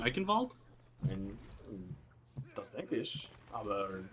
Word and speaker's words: Eichenwald: I might have been a little bit distracted by reading the old Razzle Dazzle complain that I was not pronouncing the German W as a V.